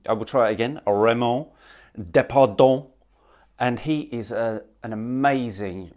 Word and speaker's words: Raymond Depardon: So that is my French pronunciation of his name. I will try it again, Raymond Depardon.